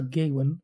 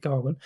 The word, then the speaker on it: Gawain: Sir Gawain and the Green Knight, not Sir Gawain, as I thought it was until I actually watched the film and then realised they're pronouncing it Garwin.